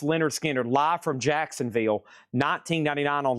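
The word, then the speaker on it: Lynyrd Skynyrd: Leonard Skinner, pronounced Leonard Skinner, live from Jacksonville, $19.99 on Leonard Skinner.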